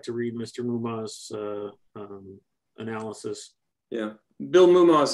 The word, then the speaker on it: Moomaw: Yeah, his last name is Mouma, Moomaw.